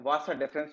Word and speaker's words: vas deferens: इस ट्यूब को हम बोलते हैं डक्टस, या इसको नॉर्मली आप वासा डेफरेंस भी बोल सकते हैं। तो डक्टस डेफरेंस, इसको बोलेंगे डक्टस डेफरेंस, या वासा डेफरेंस, वास डिफरेंस भी इसको प्रोनाउंस कर देते हैं।